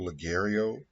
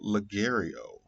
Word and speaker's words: Ligero: So we're gonna get into this Gurkha Triple Ligero. Ligario. I think the G is silent.